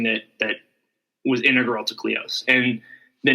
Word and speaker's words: Kleos: that was integral to clios and the name cleos actually is it's an ancient greek term it's actually pronounced cleos but um it's sort